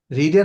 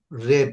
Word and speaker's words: read: অলরেডি রেড ইট এখানে রিডের past participle কিন্তু রেড উচ্চারণ ঠিক আছে কিন্তু উচ্চারণটা একটু রেড হবে হ্যাঁ বানান চেঞ্জ বানান বানান চেঞ্জ হবে না বাট উচ্চারণটা চেঞ্জ হবে উচ্চারণ চেঞ্জ উচ্চারণ